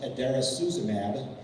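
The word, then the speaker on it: idarucizumab: It's pronounced adairasuzumab.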